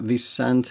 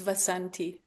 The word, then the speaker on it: Vasanti: This is John Drew here from Elevated Planet, and I am here today with Visante. Is that pronounced correctly? Is that Visante? It's Vasanti.